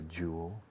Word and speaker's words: jewel: Porque los españoles tenéis la costumbre de decirlo al revés.